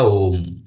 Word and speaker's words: ओ३म्: का उच्चारण ओ और यहां पर अगर वो शब्द लगा देंगे अक्षर लगा देंगे इसका अर्थ होगा कि लंबा खींचना है थोड़ा सा तीन अक्षर तक तो ये बन जाएगा ओम तो तीनों में कोई भेद नहीं है।